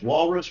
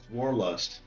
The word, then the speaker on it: Warlust: I thought it was It's Walrus. Warlust. It's Warless. Sorry. W called you War. I called you Wal Walrus and it's Warlust.